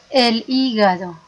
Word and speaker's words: hígado: باين واضح el corazón el hígado ديك اتشي ما كتنطقش هنا في اسبانيا دائما فاش كنشوفو اتشي كنطقو داك الحرف اللي قدامها colon el costado الاستومago،